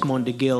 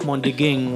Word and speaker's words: Mondeging: Whenever I'd get paged by the guards, they'd somehow misspell and mispronounce my name. And oh, they'd no. say Montegil instead of Mondeging.